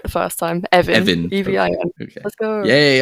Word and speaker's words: Evin: Evin.